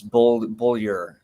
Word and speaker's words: Beaulieu: Beaulieu. Did I get that right? It's close. It's Beaulieu. Beaulieu. Yeah, it's a weird French pronunciation.